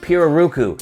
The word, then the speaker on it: pirarucu: spoke with blackjack and they corrected me on my pronunciation for this leather they pronounce it piroruku speaking of the piroku